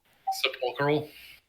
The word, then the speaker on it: sepulchral: Beyond it, you see almost a oh god, I can't never pronounce this. Spectral. God damn it. Sepulcher? Yeah, sepulcher. There we go. Chamber. Sepulchral.